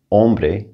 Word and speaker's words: hombre: few examples chico boy hombre man remember h is silent parque park now i